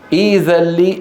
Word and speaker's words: ائذن: يقول ائذن لي، إيذن لي، ائذن لي، إيذن لي. وضح؟